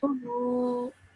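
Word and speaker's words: اقتلوا: Again, the alif at the end is a silent alif, so you drop it and you don't pronounce it. Okay? Yes. Uqtulu.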